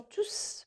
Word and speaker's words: tous: un pronom ils sont tous présents dans ce cas là le s se prononcent quand l es de tous se prononcent ils se prononcent qu'on joue c'est un pro non alors pour valider la